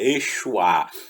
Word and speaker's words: Yeshua: é a salvação, que no caso a pronúncia é Yeshua, a salvação, que é quem?